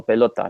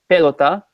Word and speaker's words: pelota: and top so you because no accents in it it stress the stress is on the or we have the second syllable so pelota not pelota not pelota but villosa